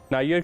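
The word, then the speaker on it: Niger: नायर क्योंकि फ्रांस की कॉलोनी रहा हुआ है, इसलिए इसे फ्रांसीसी अंदाज में ही पुकारा जाता है, जो कि नायर।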